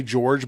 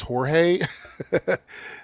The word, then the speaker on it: Jorge: And I I want to say this in the English way, George, but it's Jorge.